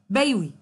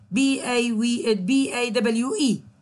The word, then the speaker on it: BAWE: An example of this is the British Academic Written English or BAWI corpus. I say it like this. It is actually BAWE corpus.